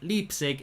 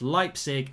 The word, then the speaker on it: Leipzig: definitely van der beek and it's leipzig even though it looks like leap cig it's leipzig and it's van der